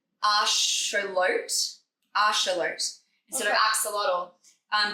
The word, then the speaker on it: axolotl: Yeah that's the way it's spelled but no axolotl is how you're supposed to say it.